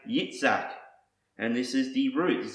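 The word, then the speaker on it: יצחק: meaning he laughs so in Hebrew it's actually Isaac's name is pronounced yitzak and this is the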